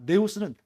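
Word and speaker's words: νέος: 자, 네오스는 딱 봐도 여러분 발음 자체가 뭐랑 비슷해요? 뉴랑 비슷하죠.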